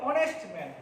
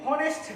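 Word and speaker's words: honest: দ্বিতীয় দেখো অনেস্ট ম্যান, এটা কিন্তু হনেস্ট না, এই এইচটাকে বলা হয় অনুচ্চারিত শব্দ, অর্থাৎ এইচকে উচ্চারণ করা সবসময় যায় না, যেমন ওয়েটেল, অনেস্ট, অনারেবল, হ্যাঁ এগুলো।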